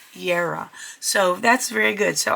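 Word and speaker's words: Jera: And I am so glad to say that it gives you a pronunciation of the runes, which J-E-R-A is pronounced Yera, Yera.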